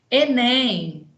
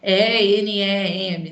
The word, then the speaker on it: Enem: Se você fala cada letra separadamente, tipo UFRJ, IBGE, então todas elas com letra maiúscula. Mas se tem 4 letras ou mais e você forma uma palavrinha pronunciável, tipo UFES, Enem, né? Formou uma palavrinha, você não fala E-N-E-M, não, você fala Enem.